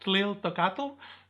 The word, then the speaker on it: Tliltocatl: So don't forget Tliltocatl.